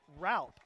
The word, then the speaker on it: Ropp: It's pronounced like Ralp. Oh, like Ralp. R-A-L-P.